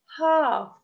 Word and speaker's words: half: Half, half, we write L, also we don't pronounce it.